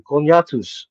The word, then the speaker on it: Cognatus: for everybody out there the pronunciation is Latin it's actually conatus like a CAC I